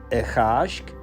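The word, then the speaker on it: a' Chàisg: Q Celtic languages will pronounce that P sound with a K, and also add the article Ichashk, Ichashk, Ichashk.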